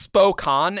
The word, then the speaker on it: Spokane: Is that how you pronounce it? Spokane? No, it's Spokane.